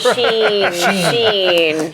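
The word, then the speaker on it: Shein: I'm sorry, but I want to know how to pronounce the company first, so that's why I'll never go to Shine.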